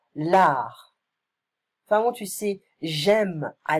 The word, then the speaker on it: l'art: So, be careful of this word, because we don't pronounce the T in French. L'art.